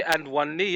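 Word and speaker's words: Awoniyi: I just think of Ledley King and say and one knee in it.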